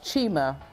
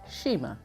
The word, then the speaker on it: Chima: concerned I don't care chim's name is Nigerian the pronunciation is Chima she likes uh sheima and she's always liked it that way who wants to see